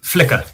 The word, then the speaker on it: Flickr: You can call us Carl if it makes easier, but flicker team. Flicker. Flicker. Like flick.